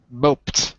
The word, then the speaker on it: moped: Moped is absolutely right. Pronunciation is moped. Sounds like a T.